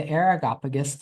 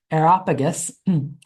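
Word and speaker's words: Areopagus: verses 18 and 20 take him before the aragopagus to adjudicate the matter. Now, Agarop Aerop sorry I mispronounced it. Aeropagus was actually a short term a short uh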